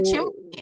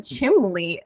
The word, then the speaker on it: chimney: And I'm like, "What is a chimley? Do you mean chimney?" And he's and so like I I questioned him and he's like, "No, this is how you say it." And I was like, "Look it up in the dictionary. Is there an L in chimney?"